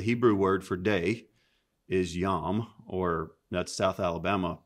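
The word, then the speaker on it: יום: So the Hebrew word for day is yom, or that's South Alabama pronunciation of a Hebrew word, right?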